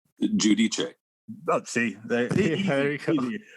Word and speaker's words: Giudice: He was on last year to do his book, and then I always pronounce his name wrong. Christian Godois? Giudice.